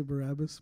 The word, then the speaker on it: Barabbas: story of Barabbas that is how you say Barabbas Barabbas Barabbas right you guys know that story